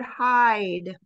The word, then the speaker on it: hide: another thing with verbs here's the word hide okay so there again the two vowels are in that word is a silent e at the end the I says its name the letter I hide if you take off